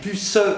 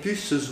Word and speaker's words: puces: Vous voyez, le E de puce est suivi par la consonne, le S, marque du pluriel. Donc, c'est qu'il faut le prononcer. En même temps, vous n'allez pas dire avec puce ou non. À l'oreille, ça ne serait pas très mélodieux. Donc, il s'agit de dire avec puces ou non.